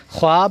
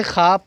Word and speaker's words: خواب: ہوتے ہیں۔ نبیوں کے خواب نہیں پڑھیں گے، خواب پڑھیں گے، سچے ہوتے ہیں۔ خوشبو